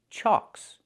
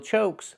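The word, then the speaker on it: chock: So it's pronounced chalks, chalks, wheel chalks. Not wheel chokes, but wheel chalks.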